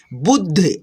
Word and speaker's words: बुद्ध: जैसे कि द में देखिए हलंत लगा है, तो ध में आपको मिला करके द का उच्चारण करना होगा, बुद्ध, ऐसे, ठीक है।